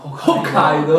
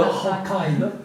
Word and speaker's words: Hokkaido: Cioè, quando dici quella famosa isola a nord del Giappone che si chiama, Hokkaido. Hokkaido. non devi dire Hokkaido, ma devi Hokkaido. poco far sentire che è Hokkaido.